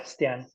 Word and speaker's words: Stjernen: Yeah, that's in Stjernen, in my hometown club. Stjernen, is that how you say it? Yeah, Stjernen, yeah.